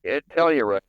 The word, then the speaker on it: Telluride: And do you pronounce it Telluride? Telluride.